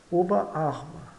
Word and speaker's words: Oberarm: pronunciada corretamente OB OB Oba arma Oba arma então sempre devemos destacar bem os elementos da composição ou seja obaba tnica